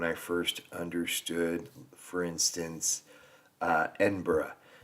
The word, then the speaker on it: Edinburgh: Like I remember when I first understood, for instance, Edinburgh, not Edinburgh, the berg is actually bruh, and a lot of